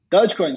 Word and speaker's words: Dogecoin: for me what is dogecoin how do you pronounce it as a tarnish coin dogecoin so dogecoin is a it's a crypto currency